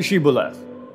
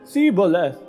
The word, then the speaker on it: Shibboleth: And if he replied, "No," they said, "All right, say Shibboleth." If he said, "Sibboleth," because he could not pronounce the word correctly, they seized him and killed him at the fords of the Jordan.